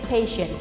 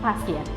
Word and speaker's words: patient: So you have to say patient not pastient.